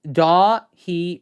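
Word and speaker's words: Dáithí: Just say Dahi really fast.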